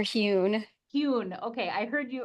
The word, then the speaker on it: Huhl: Dr. Han, is that how you say the name? So I heard It's Dr. Huhn.